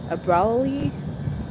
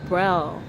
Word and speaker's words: Braille: You know how I am with pronunciation. Okay, so Braille. Brawley.